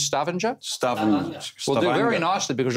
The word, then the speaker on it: Stavanger: So how do you pronounce Stavanger? Stavanger.